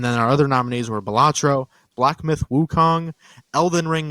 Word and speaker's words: Balatro: I've been pronouncing the game Balatro, but he was pronouncing it Balatro.